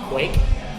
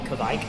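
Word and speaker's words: Kveik: But the way I've read it, it's pronounced Quake. Quake? People call it Kvike.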